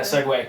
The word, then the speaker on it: Segway: actually the scooter nevertheless it's a g w a y is actually the scooter the worst reasons yes that's correct yeah yeah Segway it's still pronounced Segway though oh really oh my